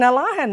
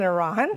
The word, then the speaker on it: Alahan: In Alahan, not in Arahan. Yep. And if you're going to argue that that's how it's spelled and that's the official, well, who made it official? You changed it. Somebody changed it. That's not how the local people say it.